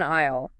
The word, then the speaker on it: aisle: Vanessa walks down an aisle, and she makes sure to emphasize that silent S in aisle. Ah, yes, A-I-S-L-E. It's totally silent.